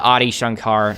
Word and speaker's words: Adi Shankar: that though because uh you can tell uh audi shankar that's how you say his name actually like